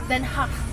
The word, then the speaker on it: Den Haag: You should pronounce it in Dutch. Den Haag.